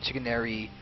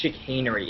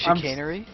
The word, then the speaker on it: chicanery: airy by the way how do you actually pronounce your name because i say chicken airy and uh it's it's chickenery it's like sh the real word it finally pronounces a name right oh it's chicanery okay um your assessment of